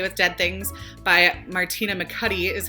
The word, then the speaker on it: McAtee: children shouldn't play with dead things by Martina mccu is how you say her name she actually